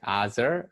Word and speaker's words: Aazar: but my right name way to pronounce my name is like azer azer and I am